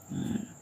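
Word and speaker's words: ن: Eh, nun salah tengok benar nun ya menjadi nah ada ke hidungnya sedikit na.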